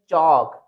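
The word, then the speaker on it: chalk: silent रखना है तो सी एच ए एल के इसको रीड करेंगे चौक ठीक है नेक्स्ट है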